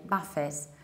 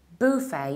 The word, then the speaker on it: buffet: Buffett's weren't Buffett however when we mean a table of fresh snacks of fresh food we pronounce it in the British accent buffet buffet because it's a word of French origin Buffay you stress the first syllable and you have a